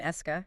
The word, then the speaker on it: Eska: And the name Eska, it's just his initials, SK, spelled out phonetically.